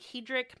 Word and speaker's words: Hedrick: um I can't say his name it's like Hedrick I think it's Hedrick it's Hedrick okay oh